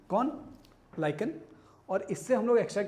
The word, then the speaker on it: lichen: है लाइकन, ठीक है, प्रोनाउंसिएशन उसका एक बार देख लेना, लाइकन, LICHEN, लाइकन।